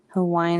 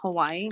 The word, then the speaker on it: Hawaii: Here in Hawaii, they have their own language too.